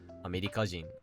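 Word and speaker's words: アメリカ人: Chugoku being pronounced as Chugokujin, and America being pronounced as Amerikajin.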